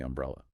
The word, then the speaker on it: umbrella: Which uh the source playfully notes is actually a surprisingly hard word for learners to pronounce. It really is. Um brella. Three distinct syllables that can easily trip you up if you aren't careful.